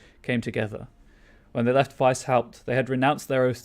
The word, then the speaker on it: Weishaupt: Right, I know that games pronounce it Weishaupt, but I'm always going to pronounce it Weishaupt, so sorry about that.